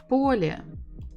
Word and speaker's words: поле: Поле, поле, поле, поле. Of course, it is on the first syllable.